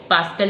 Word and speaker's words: pascal: The pronunciation is Pascal, and will be represented by capital P and small a, that is PA. Pascal is the name of scientist.